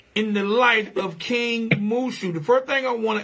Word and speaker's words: Mushu: the light of king mooshu the first thing i want to ask is am i pronouncing your name correctly yes you are okay king mushu just like a dragon from mulan okay all right now